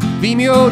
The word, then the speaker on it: Vimeo: pronounce it like video, but with an M.